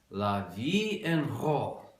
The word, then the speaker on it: La Vie en Rose: And that's pronounced La Vie en Rose. I know because I looked it up online 1 minute ago.